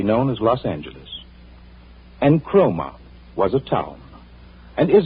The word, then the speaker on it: Cromer: Incidentally, you spell it with a C, not a K. C-R-O-M-E-R, Cromer.